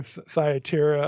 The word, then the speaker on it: Thyatira: If anything, I'm learning how to pronounce some of these words like Thyatira. Is it Thyatira? Which one is it? I prefer Thyatira. I mean, you'll hear it pronounced both ways, all but right.